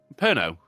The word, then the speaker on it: Pernod: It's Pernod. not apert. Oh, Thank aperitif? you. Pernod.